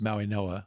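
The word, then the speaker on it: Mauigoa: It's Maui Noah. Maui The Noah. G is pronounced like an N. Okay. Maui Noah from Off Miami.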